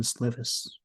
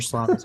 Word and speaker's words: Slovis: That was the rematch of the USC quarterbacks, JT Daniels and Keaton Slovis, or Slavis, however you say his name. Slovis.